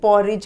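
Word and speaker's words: porridge: अब जैसे मैंने बताया ना, ये पॉरेज है, इसमें डी साइलेंट है. ये पॉरेज आप इसको रिलेट कर सकते हो, जैसे ब्रिज बोलते हैं ना, BRIDGE, तो उसमें भी डी होता है, डी साइलेंट होता है. ठीक है. नॉलेज, KNOWLEDGE, उसमें भी DGE है. तो ये वही उसी तरह का है. ठीक है, इसको हमेशा पॉरेज बोलेंगे आप.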